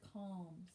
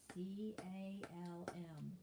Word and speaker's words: calm: that is the word calm c-a-l-m calm and the l is silent all right next word